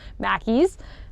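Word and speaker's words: Mackie's: favorite favorite Scottish brands, Mackey's. I don't just love it because it rhymes with Jackie, but that is a big part of it.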